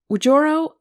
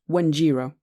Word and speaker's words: Wanjiro: porch her ears perked ujoro sorry I can't pronounce your name she said Is it true they're almost done yes they are I said and my name is pronounced wanjiro how come you don't